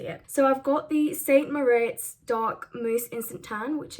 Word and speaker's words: St Moriz: Hi guys, so I'm testing St Moriz today. I think that's how you say it, I'm not actually sure. In the video, I keep saying St Moritz. I thought it had a T in it.